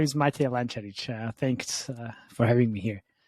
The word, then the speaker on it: Matej Lancaric: My name is Matej Lancaric.